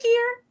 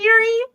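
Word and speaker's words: Gere: Is Richard Gear? Not giri.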